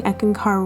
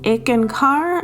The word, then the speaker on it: Eckankar: so one comment was someone saying that I was pronouncing eeken car wrong and then I'm like I'm pronouncing it the same way that Harold S Harold pronounces it and then he's like no it's it's ick and car I guess and it's